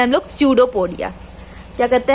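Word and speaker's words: pseudopodia: अब यहाँ पे पी साइलेंट है, पी को लेके नहीं चलना है, पी को हम लोग उच्चारण नहीं करते हैं, स्यूडोपोडिया पढ़ेंगे, स्यूडोपोडिया।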